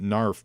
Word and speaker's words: GNARF: Mindbender's reaction to that is the word, I'm going to pronounce it NARF, but it's GNARF, like NARF.